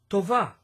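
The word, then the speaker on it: טובה: You would add the a sound on the end of the word to make the word tovah. Repeat. Tovah. If you put the accent on the first syllable of the word, this becomes a girl's name in Hebrew.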